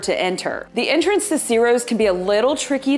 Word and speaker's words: Ciro's: It's CIRO'S Speakeasy on Bayshore Boulevard. CIRO'S is spelled C-I-R-O.